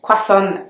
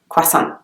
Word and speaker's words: croissant: world is a croissant I know that American English speakers pronounce it very differently but croissant is the way English people pronounce the word so it's not quite